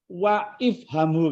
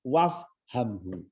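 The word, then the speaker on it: وَافْهَمْهُ: Iqra ad-darsa wa ifhamhu kan? Dibacanya wafhamhu.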